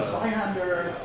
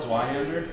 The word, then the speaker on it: Zweihander: Zweihander? Zweihander, right? It's spelled like the German Zwei.